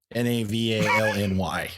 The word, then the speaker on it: Navalny: it phonetically, by the way. Okay, now I have to know. Navalny.